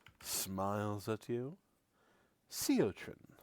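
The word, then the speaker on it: Siotrin: Seotin. Seotrren. Seot. You spell that. Of course. S I O T R I N. That's what I heard. Sean like sea urchin.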